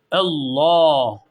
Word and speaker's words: Allah: allahüm Evet burada arkadaşlar Allah lafzından önceki harfin harekesi üstün olduğu için buradaki iç kırmızı şeyin içerisindeki Allah lafzı kalın okunacak arkadaşlar Allah Allah Bir de ötre olduğu zaman Allah şeklinde kalın okunuyordu ama billahi Eğer esri olursa o zaman da ince okunuyor Allahüme burada Mimi birazcık